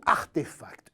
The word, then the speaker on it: RTFKT: Elle vient de racheter RTFKT, prononcé plutôt Artefact, une pépite créée début 2020 par 3 associés dont un Français, Benoît Pagotto.